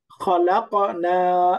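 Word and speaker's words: خَلَقْنَا: এখন দেখেন খালাকনা, এই যে খালাক, খালাক, খালাক, এত ভারী উচ্চারণ হবে না, শব্দের মাঝখানে হালকা করে খালাকনা, খালাক, খলক একদম খালাক যদি আওয়াজ না নড়ে তাহলে হবে না, কলকলা সামান্য।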